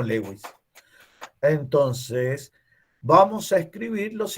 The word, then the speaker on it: Lewis: señor se llamaba gilbert gilbert louis para nosotros lewis y nosotros lo vamos a pronunciar como lewis entonces vamos a escribir